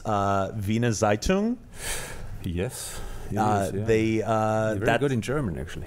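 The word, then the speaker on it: Wiener Zeitung: this this newspaper I is it is it pronounced Vina zeitoun yes they good in Germany oh well thank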